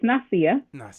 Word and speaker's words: Nasia: I just wanted to correct you a little bit on my pronunciation. Is okay because everyone always, messes it up. But it's Nasia.